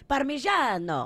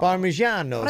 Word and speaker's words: Parmigiano: If you say Parmesan, then you write it with a G-I-N-O. Parmigiano. Parmigiano.